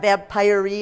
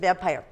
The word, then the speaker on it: vampire: m p i r and a silent e that's not vampire e it's just vampire when you see your